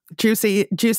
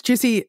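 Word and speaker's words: Giusy: So yeah, juicy all the way. And it's Juicy, G-I-U-S-Y, pronounced Juicy.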